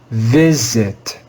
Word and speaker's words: visit: syllable that is stressed if we followed the normal rules for reading the letter i in english we would read this word as visit but that would be wrong this word has an irregular pronunciation even though the first letter i should be read with the long i sound it's read with the short i sound this word is read